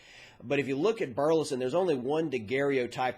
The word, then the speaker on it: Burleson: spell it for you burleson b it's really just as it sounds or just like the town up in north texas but if you look at burleson there's only one degario